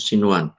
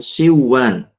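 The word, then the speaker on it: صنوان: Bacanya adalah sinwan. Sinwan bukan siwan.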